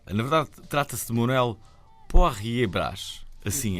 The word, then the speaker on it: Poirier Brás: Na verdade, trata-se de Manuel Poirier Brás. Assim é que é. Boa pronúncia.